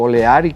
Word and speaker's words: O'Leary: Y luego dijeron, entre O'Leary, u Oleari, como otros pronuncian, y Rafael Urdaneta, se pusieron de acuerdo de que no.